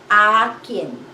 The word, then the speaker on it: akin: mine in filipino is a kin ah and then kim how do you spell that it's a and then kin akin how about you it